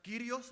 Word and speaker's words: kyrios: recuerda la palabra kyrios, la pronunciación, Curious?